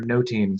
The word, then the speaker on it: nothing: The word nothing may have been pronounced a bit more like nothing or or noting.